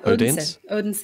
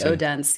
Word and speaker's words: Odense: But the TEDx opportunity you had, you know, Odense in Denmark. I'm not sure if I pronounced that correctly, to be honest. Yeah, Odense. Yeah, well, I think in English it's probably Odense.